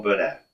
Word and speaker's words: Burnett: So the reason I like T-Bone Burnett, the next one is T-Bone Burnett, and It's Not Too Late.